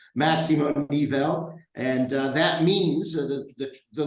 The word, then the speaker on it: Máximo Nivel: first thing is to always make sure we pronounce it correctly so sometimes it's a little tough it's not maximum nipple right it's maximum eval and that means the the literal translation from